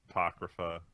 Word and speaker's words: Apocrypha: that this weekend and catch up on fate Apocrypha that's how you pronounce it it's you know it's interesting enough